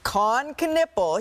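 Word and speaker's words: Kon Knueppel: We all need to pronounce his name together correctly. It is Con Knippel.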